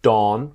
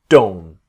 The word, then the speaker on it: don't: you that this T when we speak quickly it disappears so for example the first video I will show you about don't so don't the T very often the T is a dome dome not dawn but don't so when we talk